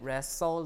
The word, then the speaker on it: wrestle: T and S cluster uh T is also lost in s cluster uh be uh for example Castle Hassen wrestle listen and hustle right uh also the D